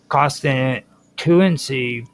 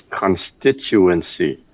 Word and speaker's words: constituency: Um, constantuency parsing. Okay. Okay. Roger. This this is this is American English, not hard to pronounce. It's constituency.